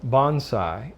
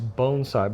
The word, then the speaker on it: bonsai: of them die now Americans tend to say Bonsai and my have some Japanese friends and my wife is actually Japanese and she's often corrected me and told me the proper way to say Bonsai which is the way I started out saying is bonai but I'm going to